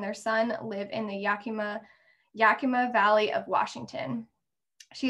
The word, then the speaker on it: Yakima: i'm so sorry count um yeah the yakima yakima and kittetas did i say it right you